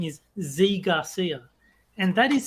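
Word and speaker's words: Zee Garcia: reviewer whose name is z Garcia and that is spelled z-e-e so there is no way to pronounce that other than Z so Z Garcia every everything else is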